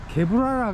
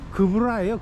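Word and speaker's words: גבורה: 그 다음에 이제 그러니까 다섯 번째 헤세드가 자비를 나타내고, 여섯 번째가 게브라라 그러는데, 이것도 정확한 발음이 그브라예요. 그브라.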